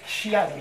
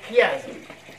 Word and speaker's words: chiasme: Et pour finir, le fameux chiasme, que certains prononcent malencontreusement chiasme, c'est chiasme.